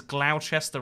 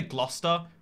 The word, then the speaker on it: Gloucester: is south kensington there's glauchester road definitely pronounced gloucester people say gloucester but i mean i see the u and this anyway uh